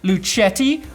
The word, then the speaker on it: Lucetti: Nick, Jack Lucetti rhymes with spaghetti.